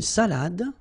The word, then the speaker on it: salade: Then, une salade. Un dessert. Un café. All right, so, une salade. Same thing here. Final you don't insist on it. It only gives you the pronunciation of the previous letter.